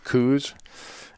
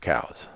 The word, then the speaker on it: Coues: world it's still called coos it's really pronounced cows so I'm gonna let